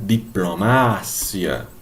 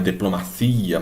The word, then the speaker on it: diplomacia: Agora, no espanhol, a sílaba tônica desta palavra é aqui, ó. É o ma. Então, no espanhol fala diplomácia. Não é diplomacia, mas diplomácia.